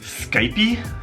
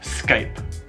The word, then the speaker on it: Skype: correctly let's start with some popular Internet Brands Skype e the correct pronunciation is Skype Skype e tu gia home email you son